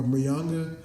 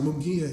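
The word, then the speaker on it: Munguía: a really respectful guy his last opponent uh manga uh I think that's how you say his name but oh mongia I'm sorry mongia he fought him he was another Mexican fighter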